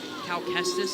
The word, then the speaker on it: Cal Kestis: Cal Kestis, is that how you say it?